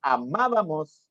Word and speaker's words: amábamos: Tienen la mayor intensidad en la antepenúltima sílaba y siempre llevan tilde. Por ejemplo, tenemos amábamos, exámenes, filósofo.